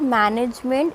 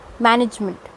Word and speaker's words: management: In the same way, it's not management, it's management. Okay, the second A that is coming after N, it will give a sound of IH, not A.